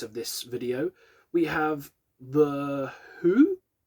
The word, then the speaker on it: The Hu: We have The Who. I think that's how you pronounce it. H-U, Who.